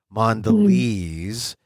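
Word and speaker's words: Mondelēz: m o nde l and then they have the accent over the e or not accent but the you know the the mark over the E so you know it's a long e mandes lez mandes they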